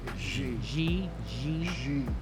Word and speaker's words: Xi: Is that how you pronounce his name? Xi? Xi.